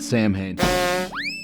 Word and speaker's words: Samhain: And three, that's how the band says it in the songs. So anyways, I'm going to pronounce it Samhain.